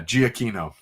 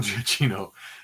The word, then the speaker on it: Giacchino: So the 2 C's in Italian are pronounced like a CH sound, said the fellow Italian in the chat. There are multiple, but it's the C, it's the double C's, then the CH, which throws me off.